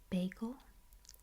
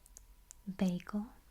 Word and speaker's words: bagel: Now I always say this word bagel. Bagel. Bagel. Okay. But it is also commonly pronounced bagel. Bagel. Bagel.